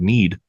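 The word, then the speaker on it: knead: because you didn't see the spelling of need oh with a K with a silent k Dan I appreciate the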